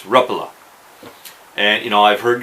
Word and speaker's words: Rapala: states I believe most of us have been mispronouncing Rapala it's not Rapala that's how I always pronounced it it's according to parity it's repla and you know I've heard guys you know